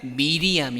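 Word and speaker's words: Miriam: 말의 뿌리가 같다는 것입니다 이 마리아의 이 히브리 식 구 약 10 발음이 뭐냐면 미리암 입니다 미리암 많이 들어보셨죠 이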